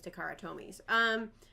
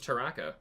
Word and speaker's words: Takara: Am I saying it wrong? I thought it was Taraka. I mean, I have dyslexia, and so does It's Takara. Oh, it is. I always said Taraka Tomy.